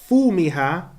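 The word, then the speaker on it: فومها: So in some recitations, some will say fumiha, but some will say thumiha.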